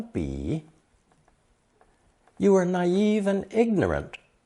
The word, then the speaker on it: 彼: It's pronounced third tone, 比, 比.